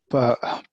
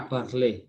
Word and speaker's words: parler: so we have got ET is pronounced the same as ER, is pronounced the same as EZ. All of them are pronounced what? As what? A. See that? A. T silent, R is silent, Z is silent.